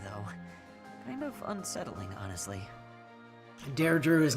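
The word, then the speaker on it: Dedue: escapes his eye though kind of unsettling honestly dare Drew is not how you would have expected that to be pronounced yeah but it is that's how they pronounce dear Drew yep a lot of the names in this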